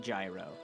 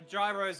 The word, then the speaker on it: gyro: always say it wrong it's spelled gyro but it's not said gyro gyro gyros or whatever they are